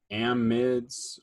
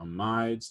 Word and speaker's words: amide: or carboxylic acids amines amids or amides depending on what part of the world you are talking where you're at in the world when you pronounce that word um there's peptides they